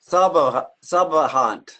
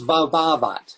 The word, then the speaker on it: Svabhavat: Phonetically, the word looks like sabahant. Is a world substance. It's svabhavat. Svabhavat.